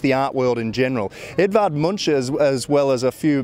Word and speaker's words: Edvard Munch: Edvard Munch, in fact, is how they pronounce it here.